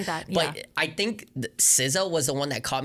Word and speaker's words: SZA: It like when you see it, it literally looks like it's pronounced Sa.